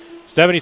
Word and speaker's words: Stephan: Stephanie says, Scotty, tell your co-announcer that my name is pronounced Stephan.